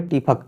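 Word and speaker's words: TIFAC: फिर इसका नाम मैंने टीआई एफएसी मत पढ़िएगा इसको। मतलब कि है स्पेलिंग लेकिन आप इसे पढ़िए टीफक। क्या पढ़ेंगे? टीफक। ओके? आपसे टीटी नहीं टीफक।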